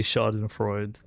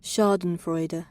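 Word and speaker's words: Schadenfreude: Yeah, it's not really Shardan Freud. Is that how you say it? Shardan Freder.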